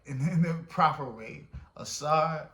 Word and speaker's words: Asar: Asar, Aset, and Heru.